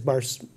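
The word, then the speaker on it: Barocius: Barosius, is that how you say it, Brian?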